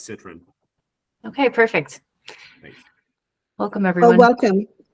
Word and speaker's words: Citron: It's Citron.